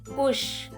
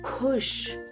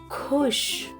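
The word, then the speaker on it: खुश: Happy in Hindi is khush. Observe, it is not kush, it is khush. There is ha sound after ka. So it is khush.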